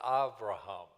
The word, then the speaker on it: Avraham: Sometimes in Hebrew, B like Abraham is sometimes pronounced like they pronounce it Avraham.